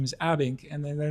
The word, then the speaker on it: Abbink: So, ladies and gentlemen, I'd love to introduce Jacki Periam and Eric Abink, right? That's correct. Is that those pronunciations bang on or okay?